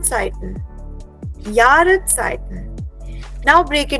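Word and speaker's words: Zeit: इज यार यार okay then comes the word site Z ई आई T site means time so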